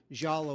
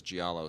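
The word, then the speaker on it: giallo: mispronouncing the word well we're supposed to say like yellow like yellow yellow yeah yow but but everyone I know says gialo so I have to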